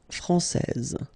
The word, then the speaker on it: français: And if we follow the main rule, elle est française. Okay, so français here, you get this final S that you don't pronounce, so français.